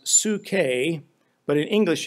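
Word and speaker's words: ψυχή: to you recently the Greek word which is pronounced sookay but in English it's translated as psyche P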